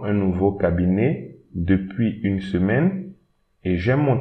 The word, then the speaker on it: semaine: So une, don't pronounce this I, semaine.